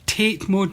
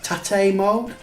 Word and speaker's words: tate mode: sentence that phrase there take because we have the silent e to emphasize the a to visit to a capitalized version making it tape mode rather than what what it is actually and i don't want to say it just in case our boy here gets it correct apparently the way eddie says it and the correct way of saying it is tate mode and there we go